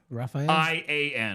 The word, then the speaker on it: Rafaelian: I I want your help with how to pronounce this name okay it's remember r a f a e l Raphael yeah Raphael i a n Rufio Raphael Ruf Ru Jeremy it's raphaelian sure